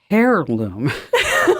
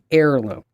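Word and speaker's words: heirloom: Daily Tech update mhm I said it as hairloom oh no it's a hairloom it's like you know like a Barret um no uh and it's obviously it's air alone Heir alone sometimes you're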